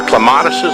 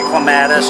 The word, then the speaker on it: clematis: These are clematises, I think they're called. Or? Yeah, well, you know, oftentimes we say clematis, although I guess many people would say that the proper way to pronounce it is clematis.